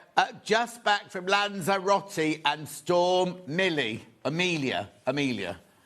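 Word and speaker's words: Lanzarote: Jill says, "Just back from Lonzerati." I'll say that again. That's how the locals say it.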